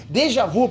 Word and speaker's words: déjà vu: Déjà vu, pra quem não sabe, é termo francês tem que falar assim.